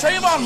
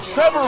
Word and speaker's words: Trayvon: tray first of all he said the name wrong it's trayvon martin and he said trevor martin verdict come on man